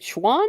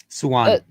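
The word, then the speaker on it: Siuan: Um, and when Men finally does come across, is it Schwan? Is that how you say her name? Swan. Swan. Yeah.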